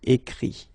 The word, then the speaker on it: écrit: Okay, remember that phonetically this final T doesn't exist. Okay, so the sound will be only this I, écrit.